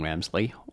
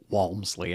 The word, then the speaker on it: Walmsley: it in 14 hours Jim wemsley Walmsley I always mispronounce his name um it's not like